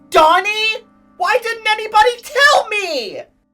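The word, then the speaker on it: Dani: Wait a minute, his first name is supposed to be pronounced like Donnie?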